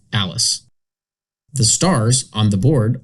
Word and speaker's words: ALISS: For example, the spelling of the Alice departure is pronounced Alice.